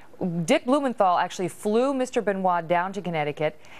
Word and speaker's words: Benoit: Chris Benoit, I was pronouncing that incorrectly earlier, killed his wife and his 7-year-old son before committing suicide in 2007.